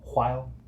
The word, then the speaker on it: while: I have this mini pet peeve where there's words with the WH and people pronounce the H in them. He says he's been doing that job for a while. Wow. While. Wow. You gotta say it from the back of your throat.